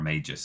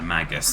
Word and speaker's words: Magus: be able to do, or a Magus I think it's pronounced. Much like the Magi.